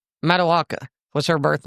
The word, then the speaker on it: Matoaka: because I'm sure I'm going to butcher the pronunciation. But it's Matoaka. Matoaka. Matoaka. Yes, ma'am. Matoaka.